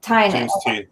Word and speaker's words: Tynion: So, James Tynion or Tinian, I still don't know how to say his last name. He has a quote, Tynion. Yeah. So he says, May's book